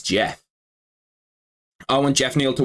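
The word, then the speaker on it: Geoff: Joff to win Jeff why does he spell it like Joff but it's Jeff I want Jeff Neil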